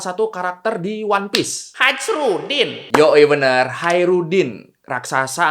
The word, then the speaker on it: Khairuddin: pasti masuk One Piece jadi Khairudin Khairudin dibaca bukan hajruddin kalau barbarossa itu sendiri